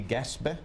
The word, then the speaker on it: Gaspé: Now, despite that France being so low in your DNA, your ancestry does link you to the, am I pronouncing this right, the Gaspé Peninsula in New Brunswick.